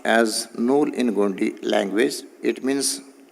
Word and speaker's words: नूल: इट is pronounced as नूल in Gondi language.